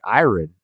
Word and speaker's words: iron: clothes and he's like iron yeah yeah I had IR iron my clothes why are you pronouncing the r and iron or iron it's it's a joke